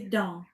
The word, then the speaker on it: dents: Je ne prononce pas le s final. OK. Les dents.